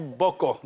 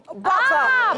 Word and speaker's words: Boko: Ah, mais ça, Mais en réalité, on dit boko. Boko.